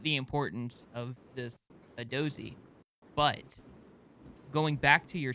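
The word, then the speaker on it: Hadozee: The Hadozi. This is how they said it when I listened to their Instagram thing. So I believe I'm saying it right. Hadozi.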